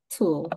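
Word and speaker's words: tulle: don't use it but it's called tool t l tool tool yeah so the E is silent yes it's to okay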